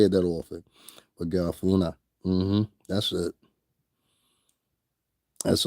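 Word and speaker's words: Garifuna: Garafuna. I always have a problem saying that shit. I'd be like Garafuka or Garaf.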